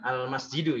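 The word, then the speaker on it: المسجد: Nah, dibacanya al masjidu, ya.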